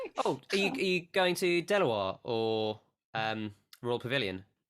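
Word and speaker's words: De La Warr: Oh, are you going to Delaware or Royal Pavilion? It's pronounced Delaware.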